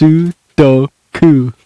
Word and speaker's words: Sudoku: 3 syllables. Ooh, oh, ooh. Sudoku. I was trying to get all of the vowels in there. It's just Japanese. Yeah. That's it, just Sudoku.